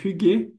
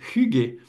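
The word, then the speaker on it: Hygge: Et puis l'huile essentielle Hugé, on prononce comme ça, de souvenir, on a galéré avec une de mes collègues, je me souviens de savoir comment on allait prononcer ce truc-là. Donc Hugé, inspiré par le concept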